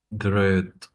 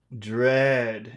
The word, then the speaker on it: dread: Dread, Dread. It's very long. Dread because of the D at the end.